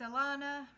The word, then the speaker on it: Alana: It's Alana, rhymes with Nirvana, empath empowerment and happiness